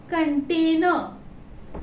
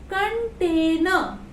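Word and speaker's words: container: We will call this कंटेनर, कंटेनर। फिर से देखिए लास्ट में आर आ रहा है, लेकिन हम लोग को आर का प्रोनाउंसिएशन नहीं करना है, सो we will call कंटेनर, कंटेनर।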